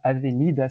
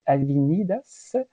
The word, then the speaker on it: Avenidas: paraît que donc Avenidas, si j'essaie de le lire, là serait trop espagnol, mais il faudrait prononcer Avenidas et Tiradentes pour ici littéralement l'avenue du